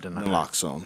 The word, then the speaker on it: naloxone: care Oregon naloxone how do you say that naloxone naloxone thank you distribution project agreement value is